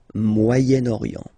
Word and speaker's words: Moyen-Orient: So it's interesting here because normally if you would have only this word here, you would pronounce it moyen, moyen, okay? But then as you get this vowel after, okay, you get to make the liaison between the two, le Moyen-Orient, Moyen-Orient, okay?